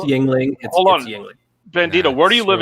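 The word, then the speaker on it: Yuengling: wait wait wait yes the Americans say it's Yingling bandito where do you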